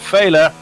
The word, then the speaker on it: Failer: And Failer, as I believe it is correctly pronounced, I had it wrong as Fila a couple of races ago, currently in 3rd.